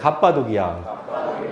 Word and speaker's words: 갑바도기아: 갑바도기아. 지금 카파도키아인가요? 발음이 영어식 발음을. 네, 갑바도기아입니다.